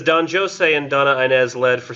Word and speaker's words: Don Juan: we're talking about how Don Joe say and I'm assuming that's how he would have pronounced that Don Joe say and Don Dona Julia